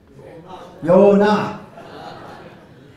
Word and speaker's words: 요나: How do you say Jonah in Korean? Yonah. More like Hebrew.